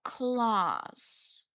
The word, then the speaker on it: Claus: But like I'm not really fond of Santa Claus. But I do like his last name, Claus, but not the way it's spelled. I just like it because it sounds like nails. Claws. Like cats.